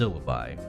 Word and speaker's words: syllabi: really you'd go with syllabi here it may not come through in text but it is pronounced syllabi which is a combination of siren and lullaby so these guys are